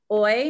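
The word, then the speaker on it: hoy: couple other vocab words oy means today and remember h's we don't pronounce in spanish similar to ola manana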